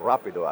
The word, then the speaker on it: Rapido: about to launch soon in the market called Rapido or Rapido actually is the uh pronunciation originally which is you know uh nickname